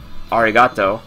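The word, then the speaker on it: ありがとう: from like uh domo arigato Mr robato yeah Arigato for thank you Arigato it's the long o at the end Arigato goas to be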